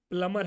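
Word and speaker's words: plumber: repay maintenance वाला है प्लमर है ओके प्लम नहीं रहेगा प्लमर सम समझा द पेन इ प्लमर okay the B silent you state board person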